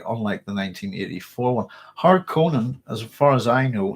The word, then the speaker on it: Harkonnen: I think that's closer, but it should be a Harkonnen like that. But I'm Northern Irish, and the way we say things will be different anyway. So to me, I'm pronouncing it right, but I know, if you see what I mean, I'm trying to be harsh on the A and the O.